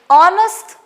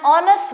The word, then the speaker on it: honest: example we have an honest man an honest man over here also h is silent since pictures silent the